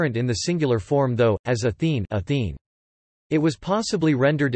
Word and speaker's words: Ἀθήνη: the singular form though, as Athene, Athene.